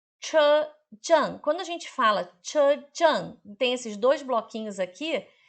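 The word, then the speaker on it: 车站: Chejang. Che é C-H-E. C-H-E.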